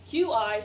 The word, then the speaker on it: Qi: can tell you that Qi unequivocally sounds like a CH Qi sounds like a CH